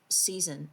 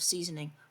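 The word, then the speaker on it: seisin: The first part is covenant of season. Now I will say side note I didn't know how to say this at first you know I thought it was like covenant of seasoning but anyways the covenant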